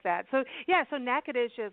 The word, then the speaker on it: Natchitoches: their website it's Natchitoches comm and she can spell it for you because how we say NACA dish is not how it felt right Katherine that's